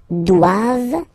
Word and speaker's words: doivent: All right, and then the last one, ils doivent. So same thing, classic ending for the plural form, E-N-T here. Okay, but then you don't pronounce it.